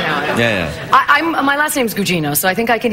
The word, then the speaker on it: Gugino: And I was like, "No, Carla. It's Italian. Carla Gugino." And they went, "Oh, Carla. Carla Gugino." And I was like, "This is where I should be living." Yeah, yeah. They can pronounce my name.